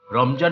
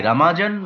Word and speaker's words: রমজান: ও আরবি ও মুসলিম দেশ যেমন ইরান, বাংলাদেশ, পাকিস্তান এবং তুরস্ক এটিকে রামাজান বা রমজান হিসেবে উল্লেখ করা হয়, কারণ আরবি বর্ণের কারণে বর্গীয় জ উচ্চারণ তৈরি হয়।